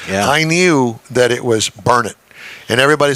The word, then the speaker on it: Burnet: it Burnett Texas yes it's burn it don't ever say bernet or people around here will get after you about it I know and see